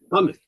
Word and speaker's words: Monmouth: Monmouth. Yeah. Monmouth.